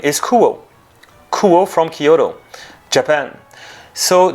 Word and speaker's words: Kuoe: So the right name to pronounce brand is Kuoe.